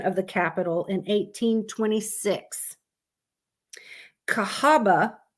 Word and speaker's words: Cahaba: the capital in 1826, Cahaba, I think that's how you say it, continued to grow and thrive. It is Cahawba. Cahawba. So I don't know if I'm saying that right. Cahawba, the way Alabamians talk.